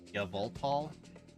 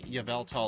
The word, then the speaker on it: Yveltal: a really big difference it's y vol no I'm not pronouncing it like that that sounds wrong to me I'll take Yveltal or evelt I'm not saying yalal like there are correct and incorrect ways to pronounce something that is incorrect like the other incorrect